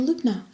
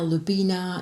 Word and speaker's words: Lubna: But they can't say it, it's only 2 syllables. You can say it, can't you, Lubna? But I get called all sorts of things. Linda, Lubina, nosy cow.